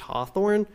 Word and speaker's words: Hathorne: Maybe, but the name was probably actually pronounced Hawthorne, so him adding the W may have just gotten people to finally say it right.